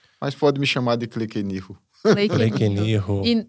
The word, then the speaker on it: Kleykeniho: Como que eu pronuncio o seu nome completo? Cleenirro fun.